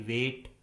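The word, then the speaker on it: weight: Rule number 2 में हम सीखेंगे यदि किसी इंग्लिश वर्ड में आई के बाद जी एच आता है तो उस वर्ड में जी एच कम्प्लीटली साइलेंट होता है, यानी जी एच का किसी प्रकार से कोई भी उच्चारण नहीं किया जाता है।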